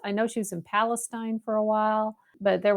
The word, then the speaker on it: Palestine: You have to take a word that everyone pronounces one way and then put it in East Texas.